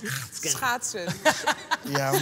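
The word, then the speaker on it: schaatsen: How do you pronounce it? Schachten.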